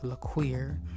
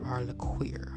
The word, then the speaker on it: LaQueer: You can visit me on TikTok as LaQueer, and that's LAKUWERR, LaQueer, okay?